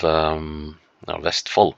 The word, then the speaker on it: Vestfold: Vestfold is, with the exception of Vestfold, to say it properly, is with the exception